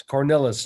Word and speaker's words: Cornilles: So yes, Cornilles is the correct pronunciation.